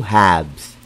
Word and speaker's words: halves: call that two hubs remember it's silent l I repeat two halves what if the question